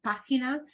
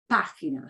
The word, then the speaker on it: página: Ah always sounds like ah, that pa part of página. That just means we punch that syllable more than the other two, right? It's not página or página, it's página.